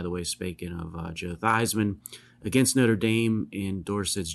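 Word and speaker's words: Theismann: Joe at the time thevan changed his pronunciation to thyman to rhyme with Heisman so three games into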